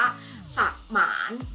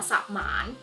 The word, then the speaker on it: สมาน: ประสงค์ กับ สละ และ คำ ว่า มอนอ มา จะ ต้อง อ่าน แบบ มี หอ น้ำ เข้า ไป ด้วย ดัง นั้น คำ นี้ จะ อ่าน ว่า สมาน นะ คะ สมาน ต่อ ไป คำ นี้